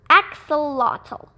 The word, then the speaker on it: axolotl: and in case you're wondering my name is pronounced axolotl dear spice bush swallowtail caterpillar why are you